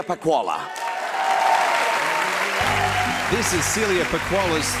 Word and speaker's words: Pacquola: actor award goes to you can pronounce it Celia PAH koala this is Celia for